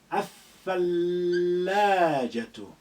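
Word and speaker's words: الثلاجة: That tha is a sun letter. Al-thallajatu. Shadda.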